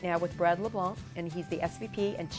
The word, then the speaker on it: LeBlanc: business I am here right now with Brad LeBlanc and he's the SVP & chief development officer